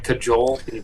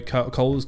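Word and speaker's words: Kjoll: they would they would they couldn't say my name and they've done cajole yeah for those who don't know Cole's got a a unique spelling k j o double l which I can understand people like cajole I reckon that's what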